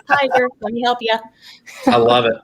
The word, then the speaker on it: Tiger: for some reason but i had so many interesting pronunciations of my name that i thought well let me help people out because i to get to share tigger to gray i'm like it's tiger let me help you